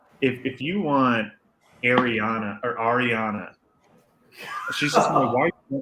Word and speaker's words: Ariana: You should learn to pronounce her name right first. It's Ariana.